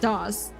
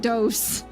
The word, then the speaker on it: DOS: You probably know it as terminal and is pronounced DOS. Oh, okay. Need to get mother. I I um resisted saying dose cuz I'm like I do not believe that's what he's saying.